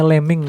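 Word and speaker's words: lambing: Istilahnya lemming ya, lembing tulisannya, tapi bacanya lemming biar kayak Sandy Brock teman-teman.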